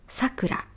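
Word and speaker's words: さくら: Trọng âm của "sakura" là sakura nó đi lên Nếu nó đi xuống, nó trở thành họ hoặc tên của một cô gái.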